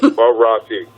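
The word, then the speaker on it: Morotti: Let me say his name right, Marotti.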